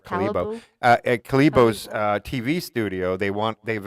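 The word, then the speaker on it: Kalibo: Gotta say it right, Calibo.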